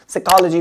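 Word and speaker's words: psychology: physique है ना next साइकोलॉजी बहुत ही इंपॉर्टेंट वर्ड है पी एस अ आपको पी यहां पे साइलेंट रखना है बाकी वही साइको बोलते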